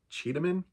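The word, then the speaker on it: Çeda: The main character is a woman named her name is spelled C-E-D-A. Is it how it's spelled? Yeah, C-E-D-A. But there's a little like doohickey under the letter C, which is actually pronounced C-H.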